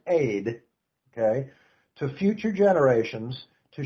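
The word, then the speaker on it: עד: In the Hebrew, it's the word ed, which is pronounced aid, okay, to future generations,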